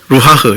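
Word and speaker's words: רוּחַ: 발음이 이렇게 바람 후 하는 것처럼 루하흐.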